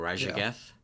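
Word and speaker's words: Raszageth: Side note: it annoys me so much that Blizzard uses the SZ like digraph, but they all of it is pronounced just Z. I love that. But like all the like That's actual true. the languages in the real world that use that digraph, SZ is like a ZH, like Yeah.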